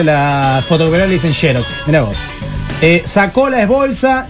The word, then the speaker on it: Xerox: Se escribe Xerox y se pronuncia Xerox.